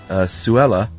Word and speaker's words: Sulla: We pronounce it Suella, but whoever knows if that's the true pronunciation.